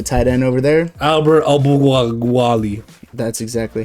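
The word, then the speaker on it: Okwuegbunam: Albert Albuwali. That's exactly how you pronounce it.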